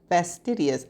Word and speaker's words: fastidious: And this is how it is pronounced. Fidious. Fastidius.